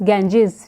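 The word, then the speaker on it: Ganges: गंगा pronounce करते हैं but internationally it is known as इट is pronounced as गेंजेस और ये जो हमारे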